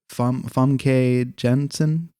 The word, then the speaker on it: Famke Janssen: Famke Janssen.